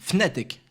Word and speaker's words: Fnatic: J'arrive jamais à le prononcer. C'est Fnatic ou Fnatic. Voilà. Fnatic. Mais si, c'est comme ça qu'on le dit. Fnatic.